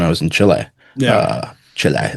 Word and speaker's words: Chile: Chile, that's how they say it. They told me to put a lot of emphasis on the E, but they they they